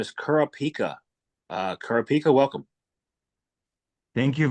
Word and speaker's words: Kurapika: is the founder of factor his name is Kur pika uh kica welcome thank you very much for having me Jam yeah and you pronounced it perfectly how are you today I